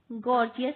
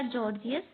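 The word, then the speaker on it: Gorgias: के मीनो के बाद गॉर्जियस गॉर्जियस या जॉर्जियस जो भी कहें गॉर्जियस के बाद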